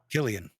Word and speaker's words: Cillian: Am I pronouncing that very incorrectly? I don't That's know. Killian.